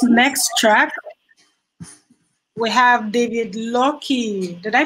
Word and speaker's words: Lockie: track we have David Loki did I pronounce that correctly it's not luck it's lucky yes he's going to